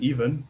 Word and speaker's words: Ewan: I was always calling him You and Ewan, yeah. But it's pronounced You and Ewan since his name is Ewan.